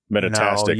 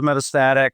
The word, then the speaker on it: metastatic: is it right um metastic I said it wrong sorry oh no it goes metastatic metastasize yeah um that